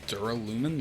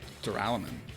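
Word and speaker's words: Duralumin: Dural lumin. That's how you say it. I was saying duralaman.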